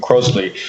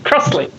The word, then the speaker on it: Crossley: Carolyn obviously gets Caroline a lot, but I noticed your pronunciation of Crossley rather than Crosley. Are we mispronouncing your surname? Should it be Crossley or Crosley? If we're going to be pedantic, yes. Crossley.